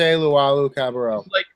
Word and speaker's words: Luwawu-Cabarrot: Timothy Luwawu-Cabarrot.